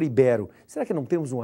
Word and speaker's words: ibero: Se ela não recebe acento, a pronúncia correta não seria híbero. Mas se fosse híbero, ela seria proparoxítona, pois deveria ser acentuada no i. E se for ibero?